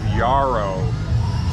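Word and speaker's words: Jaro: is in the area of yarrow pronounce yarrow spelled with a J j-a-r-o yeah nice and easy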